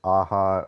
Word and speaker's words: Aja: And one artist that I really enjoy is David Aja or Aza. I I think it I think it's Aja cuz he's Spanish, but forgive me on the pronunciation.